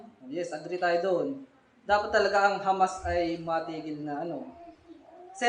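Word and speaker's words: חמס: Meron kasi dyan ang spelling ay merong C-H-A-M-A-S. Parang binat Hamas. Hindi. Pag kasi pinopronounce walang C. Hamas talaga eh.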